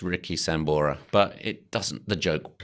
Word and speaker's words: Richie Sambora: from Bon Jovi guitarist Ricky Samburu sir did we did we think this is a real person or checked and I got his name wrong it's it's it's Richie Sambora but it doesn't the